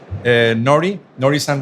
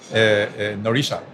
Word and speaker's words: Norihisa: And today I'm very glad because I have here a good friend, Norihisa Wada. Norihisa, the pronunciation is correct, Nori?